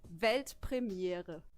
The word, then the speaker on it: Weltpremiere: It's actually Weltpremiere. Pretty simple, right? I can do that. Yeah, do it. Weltpremiere.